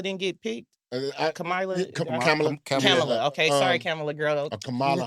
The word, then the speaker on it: Kamala: Do y'all think why Camila didn't get picked? Kamala.